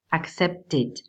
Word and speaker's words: accepted: A la hora de agregarle ed, algunos verbos cuando pronunciamos forman el sonido id al final. Por ejemplo, accept, accepted, count, counted.